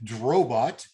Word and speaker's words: Drobot: his debut from canada cody drobot rhymes with robot yeah prepped by neil